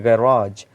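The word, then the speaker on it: garage: For example ये जो word है गैराज, तो आप इसको गैरेज भी कह सकते हैं।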